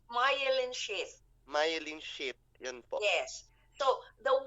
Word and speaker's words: myelin: P pronounce KO M mein Pano po p pronounce myelin myelin Yan po yes so the one that is